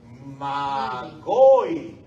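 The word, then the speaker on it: μάγοι: Cómo se dice sabios según el texto griego de Mateo se dice magoi Ah de ahí viene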